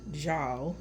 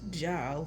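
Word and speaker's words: żal: Zal, pronounced Jal, I guess, is melancholy felt at an irretrievable loss.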